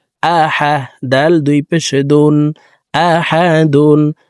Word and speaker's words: أحد: হামজা জবর আ, হা জবর হা, আহা। দাল দুই পেশ দুন, আহাদুন। দাল কলকলার হরফ নিচের দিকে ধাবিত করে ধাক্কা দিয়ে উচ্চারণ করব। আহাদে। দাল ওয়াকফের ক্ষেত্রে সাকিন করে ফেলবো।